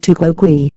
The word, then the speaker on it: tu quoque: You answered criticism with criticism, pronounced tu quoque, literally translating as you too.